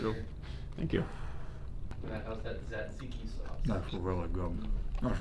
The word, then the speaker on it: tzatziki: How's that tzatziki sauce? That's really good. That's really, really good. I'll let you pronounce it.